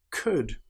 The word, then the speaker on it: could: all palm or calm another time when the letter L is not pronounced is when we have the letters U L do for example the word would could should in these cases again the L is completely silent the letters B and